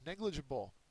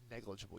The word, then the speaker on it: negligible: as well next page negligible okay uh negligible is an adjective it is a first syllable accented it's often a term